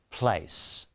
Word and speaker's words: place: as they are written then the letter a which is pronounced as vowel sound number six the letter c is in blue so it is pronounced as the letter above it notice the e is in yellow so it's silent so let's put these